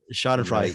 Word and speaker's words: Schadenfreude: Bruce, how do you pronounce it? Schadenfreude? Shot and fried. Schadenfreude.